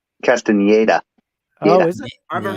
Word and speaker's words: Castaneda: I think it's actually pronounced Castaneda as well. Just to let you know. How's it pronounced? Castaneda.